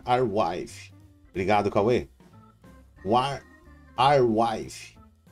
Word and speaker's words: Arweave: Se pronuncia WarWave.